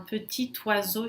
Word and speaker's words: petit oiseau: Petit, sozinho na frente de uma consoante, não tem o T final que se pronuncia, mas aqui, frente ao oiseau, pássaro, né, que começa com uma vogal, eu faço essa junção.